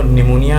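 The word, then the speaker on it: pneumonia: letter to पीएम कौन-कौन से बट में तो निमोनिया में जो स्टार्टिंग लेटर है वह पीएम इसमें यह आती थी साइलेंट होता है और हम लोग पूर्ण करते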